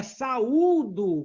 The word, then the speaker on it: saúdo: É saúdo, com acento no U.